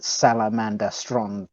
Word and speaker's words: Salamandastron: really heavily seems to emphasized that salamandastron the syllables none of them are emphasized none of them